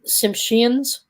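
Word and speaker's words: Tsimshian: think they're called um simpshians it's pronounced t-s-i-m-s-h-i-a-n the t i think is silent so simpshians have known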